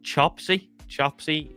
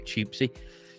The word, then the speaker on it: Chopsy: We got, I said this guy's name wrong last time. It's Chopsy. Yeah, because I think I was calling him Choopsy.